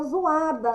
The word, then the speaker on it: zoada: Sim, a gente pronuncia zoada, né? Só o som do zu, mas escreve com zó. Z-O, tá? Zoada.